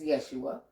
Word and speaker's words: Yeshua: And the proper pronunciation of his name is Yeshua.